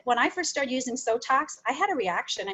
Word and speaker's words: Sotox: Sotox rhymes with Botox, so it does approximately the same thing.